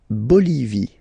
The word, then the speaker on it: Bolivie: La Bolivie, okay, final not pronounced, la Bolivie, la Bolivie.